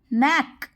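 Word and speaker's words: knack: इसको कनैक मत पढ़ लेना, के साइलेंट होता है यहाँ पे, तो इसको हम कैसे पढ़ेंगे, के को साइलेंट मानेंगे और बाकी आगे का वर्ड हम पढ़ेंगे। कैसे प्रोनाउंस करेंगे, नैक।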